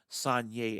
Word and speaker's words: Saignée: Saignée, as it is pronounced, you got the grapes that are picked at the beginning there, and then they are crushed.